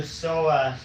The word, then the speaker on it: psoas: This is for your psoas muscle. It's spelled p s o a s.